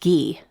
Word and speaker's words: Guy: He told me it's French, pronounced Gee, but everyone calls him Guy, so it stuck.